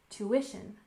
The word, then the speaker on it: tuition: finally we have tuition we stress the second syllable tuition tuition and this is the